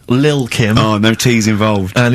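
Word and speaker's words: Lil' Kim: it's a track by Little Kim but how are you pronouncing it I'm pronouncing that correctly Lil Kim oh no te involved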